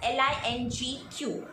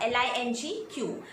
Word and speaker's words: LingQ: So link is pronounced as Lingq. So German Link podcast, Lingq.